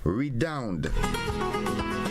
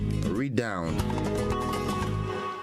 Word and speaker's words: redound: is the word redound redound redound is spelled r-e-d-o-u-n-d read down re-down is a formal word